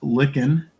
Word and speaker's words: lichen: So, we made do with some photos of lichen, pronounced licken.